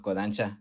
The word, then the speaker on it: Kodansha: Hay una extensión de la O, pero bueno, Kodansha.